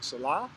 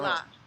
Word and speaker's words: Selah: I'm saying it wrong. Selah? Selah. I mean, people call me Selah.